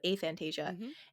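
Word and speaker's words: aphantasia: right and it's it's a Fantasia I kept wanting to call it a Fantasia but a Fantasia and it's it's the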